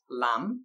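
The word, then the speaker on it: lamb: an example we have the word Lam with Asylum B at the end debts with silent B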